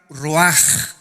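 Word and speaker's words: רוח: Esta palabra vientos es la palabra hebrea roach, que se pronuncia roaj. La ch en el hebreo se pronuncia como J y que es la palabra espíritus.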